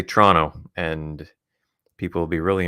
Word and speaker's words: Toronto: time zone as torono and that's how you pronounce it TR no Toronto Toronto Toronto not Toronto so if if you're ever having to use the the name of the city in a conversation again just say Tonto and people will be really impressed it'll sound